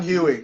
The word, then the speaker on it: Huey: So I guess Huey, am I pronouncing that correct? Huey, yeah. Huey.